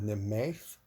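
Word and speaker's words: Nemhaith: I believe that H is like would be pronounced the same way as after a W. Kind of gives just some lift to the word. So Nemaith, meth, or well, meh.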